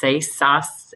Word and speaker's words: Sasse: Sasse, S A S S E, Sasse.